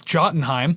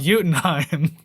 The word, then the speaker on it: Jotunheim: Although it's if you want to be American about it, it's Jotunheim, but it's pronounced Jotunheim.